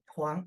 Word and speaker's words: 黄: Huang, yeah, Huang. And what does it mean, Huang? Oh yeah, okay, thank you so much. Huang is a family name.